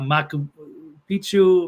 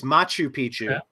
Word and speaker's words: Machu Picchu: Mexican pyramids um what's I forget inor watt maku Pichu am I pronouncing all this stuff right there's there remnants of it's angor It's angor watt it's Machu Picchu in Peru what else were the other ones